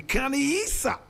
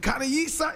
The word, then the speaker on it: Khanyisa: The Khanyisa. And Khanyisa is spelled k h a n y i s a.